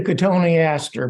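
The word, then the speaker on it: Cotoneaster: plant we talked about do you say cotton Easter I say could Tony asked her but that's only because my teacher told me katoni asked her okay there you go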